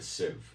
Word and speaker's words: sieve: a sieve, S-I-E-V-E, a sieve, it's pronounced a sieve.